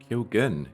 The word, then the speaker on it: Keoghan: we've got H Barry kyogen kyogen he pronounces it I would have said something else kyen but uh we'll stick with what he knows best really um um who played